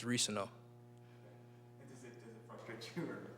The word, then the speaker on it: Reescano: It's Reescano.